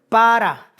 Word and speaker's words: para: acento derivado de la raíz para p a r a con acento en la a que significa ser fructífero